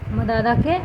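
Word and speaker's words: مدّ: দেখবে আমি করছি, এই যে দেখো, মাদাদাকে আমি এটা মাদ্দা করে দিলাম, দুটো দালই থাকলো, দেখো মাদ্দা, দুটো দাল উচ্চারণ করছি তো, মাদ্দা, বুঝতে পারছো? আমি কিন্তু দুটো দালই উচ্চারণ করছি, মাদ্দা, কিন্তু রূপটাকে দেখো,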